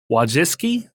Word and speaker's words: Wojcicki: YouTube CEO Susan, I never remember how to say her last name, Wojcicki, Wojcicki.